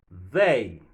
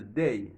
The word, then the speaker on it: they: Mettez au milieu, rangé dans moins, pour me prononcer comme ça. They. Gen un pile monde encore qui mal prononcé ça. Yo prononce le day.